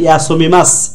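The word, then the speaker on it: 休みます: ইয়াশু হাতারা কি মাস, মা শু ইয়াশু ইয়াশু মা মি মা শু, না সু বলবো না, ইয়াসুমি মাস, সঠিক উচ্চারণ হচ্ছে ইয়াসুমি মাস।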